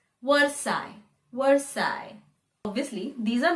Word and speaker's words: Versailles: the spelling it is word styles or words sales like that but the actual pronunciation is versailles l-e-s all disappears versailles versailles obviously these are